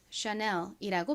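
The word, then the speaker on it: Chanel: ch가 소리 나고 A는 아 소리 빠르게 연결하면 아셔라고 발음되죠. 그리고 N은 니은 소리 E는에 소리 L은 리을 소리 나서 샤넬이라고 발음하죠.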